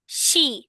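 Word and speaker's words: し: তারপর সি শি। হ্যাঁ, এই উচ্চারণটা হবে শি।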